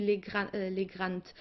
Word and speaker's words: Legrand: Ihre Freundin Yvonne Legrand aus Frankreich, because it should be French. In the German pronunciation would be Legrand, but since it's a French name, let's say Legrand.